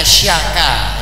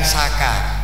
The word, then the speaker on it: Saka: C ekor c keleret itu bacanya sya sya makanya syaka ya bukan Saka syakaer Nah ya soal